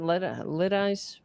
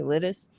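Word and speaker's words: Lidice: How do you pronounce it? Litis. Uh where they completely raised the town. They lit. L I D I C E. Lettuce.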